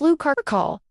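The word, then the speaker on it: Lou Carcolh: From the folklore of the French Basque country comes a unique and bizarre creature, the Lu Carl, pronounced Lu Carall.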